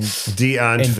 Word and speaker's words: Die Antwoord: This man's got to say shit the proper way in Die Antwoord. Deutsch. Yeah. Die Antwoord is how you say it.